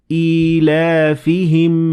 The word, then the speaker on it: إِيلَافِهِمْ: Now, as you can see, there is no ya in the word إِيلَافِهِمْ. But there is this sign which tells us that there is a ya that we should pronounce it.